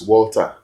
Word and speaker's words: Walter: Just title you water. Water don't come. Most persons say that. Yeah. But meanwhile, they get the name wrongly. Okay. It is not water, it is Walter.